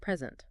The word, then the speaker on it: present: But if we stress the second syllable, it becomes a verb meaning to give something.